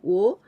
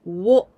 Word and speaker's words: を: So the pronunciation of this letter, when we just look at this one, we say wo. But in the sentence, when there's this one, we pronounce like this. O.